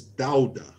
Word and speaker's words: Dauda: do you pronounce it it's dowder dowder yeah that's it okay you did yes